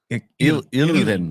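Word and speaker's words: Hirving: How do you say his first name? The silent H. I said it sounds Russian. Irving.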